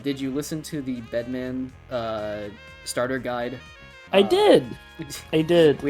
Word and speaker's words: Bedman: Did you listen to the Bedman starter guide? I did. We have official confirmation in a way of how to pronounce the character's name, which is Bedman.